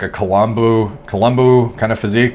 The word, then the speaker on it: Columbu: necessarily like a colombo columbu kind of physique colombo he pronounced his name but um you know